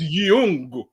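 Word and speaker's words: Yeung: Young, Y-E-U-N-G. I was about to say that's just like telling me it's a white man named Alonzo, man. I ain't trying to hear that bullshit. His name's not Jeff Young. and Young, the way it's spelled, that's the way they spell it. It's Young, but this Bolo Young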